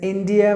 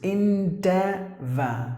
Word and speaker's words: endeavor: good the next year is India or something no it's like the letter a silent and letter O silent and the letter R silent the e is like this endeavor endeavor endeavor meaning trying trying